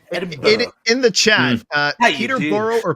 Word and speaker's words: Peterborough: how would i say peterborough peterborough oh okay so i would say peterborough naturally and just squish it i i was under